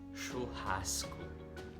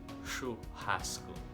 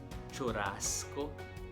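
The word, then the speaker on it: churrasco: it is pronounced as shohasku the ch in portuguese is pronounced as sh we have that pronunciation of ch such as chicago or michigan the ch there that is how you pronounce shu hasku the double r in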